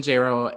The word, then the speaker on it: Jayro: Also, I am Jayro. It rhymes with Jaylo. Don't fuck that up. It's 2 syllables.